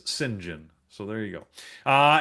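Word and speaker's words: Cyngn: Apparently, he says it's pronounced Singen, the company. So, if you want to know how to pronounce pronounce C YNG, apparently it's Singen.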